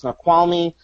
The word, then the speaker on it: Snoqualmie: Just a couple of days ago, I was in, I think it's pronounced Snoqualmie district just outside of Seattle.